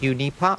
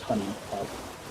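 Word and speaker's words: HuniePop: It's uni pop. It's just bejeweled. Honey pop. It's It's pronounced honey pop.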